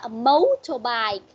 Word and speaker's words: motorbike: Cô nói cái dấu nhấn là con đặt ngay trong cái từ mà con có âm, nó phát âm giống như dấu sắc nó lên vậy đó.